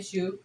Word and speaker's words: choux: neither is eclairs and it is called a shoe pastry and it's spelled c-h-o-u-x High Street cool and